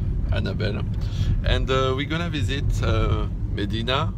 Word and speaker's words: Mdina: And we're gonna visit Mdina. Is it the right pronunciation? Yeah. Because she is from Malta.